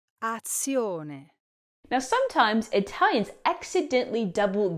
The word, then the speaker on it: azione: Now, the correct pronunciation is... Azione.